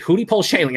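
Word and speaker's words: Hudepohl-Schoenling: That's how you pronounce it, Hootie Pole Shanling.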